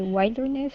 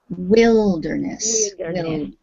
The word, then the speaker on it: wilderness: again i'll point out even though the word wild is in this word it's pronounced wilderness yes wilderness get okay